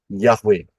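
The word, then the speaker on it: Yahweh: nama Elohim kita yaitu yahwe bacanya dari kanan ya y he W he y h w ha dari kanan ke kiri yahwe Nah kalau kita lihat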